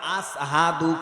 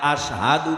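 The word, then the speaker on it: أشهد: তোমাদের মুয়াজ্জিনের আরবি ভাষা উচ্চারণ হয় না, আসহাদু কয়, আশহাদু কইতে পারে না।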